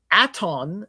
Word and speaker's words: Aton: At u uh aton is at I believe it's at o n. Okay. Aton like atonism.